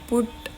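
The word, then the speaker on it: PuTTY: पुटी कह लो इसे पुट पुट डी यूआई कुछ भी कह लो इसे। एग्जैक्ट जो इसकी प्रोनाउंसिएशन है ना वो यही है कि पुटी।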